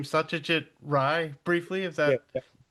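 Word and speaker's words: Satyajit Ray: to say his name Satajit Ry briefly if that did I say that well enough. Well is Bengali and Rey is the way people who are not Bengali pronounce his name but we've got it completely right.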